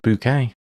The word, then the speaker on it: Bucket: Uh, it's pronounced bouquet.